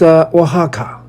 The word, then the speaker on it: Oaxaca: Oaxaca is pronounced Oaxaca.